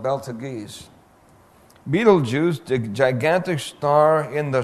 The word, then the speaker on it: Betelgeuse: Pronounced Betelgeuse, spelled Beltegeuse. Betelgeuse, the gigantic star in the shoulder of Orion.